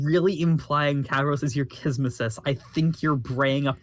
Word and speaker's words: kismesis: Is it pronounced like Kismesis is correct.